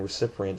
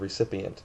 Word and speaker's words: recipient: It's like my old uh, principal saying recipient instead of recipient. There's no extra R in recipient.